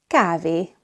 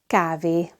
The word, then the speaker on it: kávé: Notice that it's not kávé, so don't add an extra consonant sound at the end of the word.